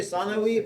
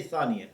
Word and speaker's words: ثانية: Because in Arabic usually you say ثانوي. You can say Thanawi, but in Farsi we say Thaniya.